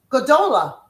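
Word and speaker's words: גדולה: Big sister is aoot gadola.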